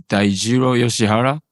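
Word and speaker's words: Daijiro Yoshihara: My name is Dairo Yoshihara.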